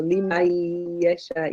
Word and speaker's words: لمن يشاء: For this one, remember, we don't pronounce the noon. So limayasha.